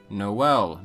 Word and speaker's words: Noël: Another example found in English as well is Noël, meaning Christmas, which originally came from French. In French, there is an umlaut over the E, indicating both vowels are pronounced, so it's not Noël.